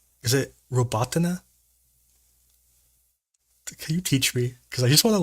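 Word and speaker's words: Robotyne: Is it Robotina? Can you teach me? Because I just want to learn it. Sorry, I was distracted a bit. Robotine. Robot. Okay. Okay, so it's just north of Robotina.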